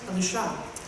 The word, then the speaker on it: Elisha: So I found a place where the prophet's mentioned, and we listened, and it's pronounced Elisha in the Hebrew.